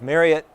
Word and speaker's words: Marriott: Well, Chris Norton of Marriott and yes, I believe I did pronounce it correctly.